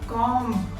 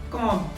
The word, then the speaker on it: comb: It's not comb. B is silent. It's pronounced as comb. His hair are looking messy. He should comb his hair.